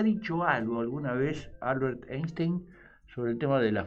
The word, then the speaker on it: Einstein: Está al me dice, "Che, ustedes dicen mal, dicen Einstein, pero es Einstein. La I se pronuncia ahí."